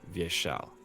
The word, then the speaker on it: Vyeshal: this it's V yeah and also in via shall the second syllable is always the emphasis so it's via shall and that translates to